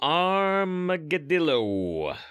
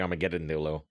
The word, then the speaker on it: Armageddillo: a little earlier Maybe the armageddillo which I always add extra syllables and call it the Armageddon Nolo um six Mana four